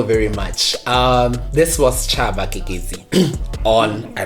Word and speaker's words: Keketsi: This was Chaba Kekezi on, I pronounced the surname correctly.